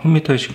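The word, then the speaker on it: permutation: 그래서 이제 퍼뮤테이션 공식이 나왔는데 퍼뮤테이션 공식은 6P3이라고 그래요. 얘를 발음을 퍼뮤테이션이라고 해요.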